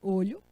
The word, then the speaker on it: olho: poderia ser o olho olho é substantivo e a pronúncia fechado olho esse eu digo o óleo é verbo então é a mesma escrita mas a pronúncia diferente o sentido diferente estou